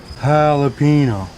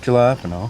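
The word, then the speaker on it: jalapeño: The J's like an H, Ricky. Jalapeno, not jalapeno.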